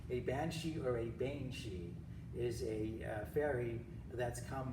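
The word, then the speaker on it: sídhe: years to figure out it's pronounced she and not city or whatever now you may not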